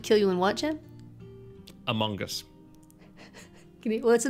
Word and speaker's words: Among Us: really hard and uh you're pronouncing the o as like an o sound instead of a schwa i would say among